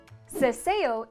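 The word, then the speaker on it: seseo: mostly used in spain ceseo is the opposite of the theo and takes place when the letters s c before e and i and z are pronounced the same as the english s mostly used in latin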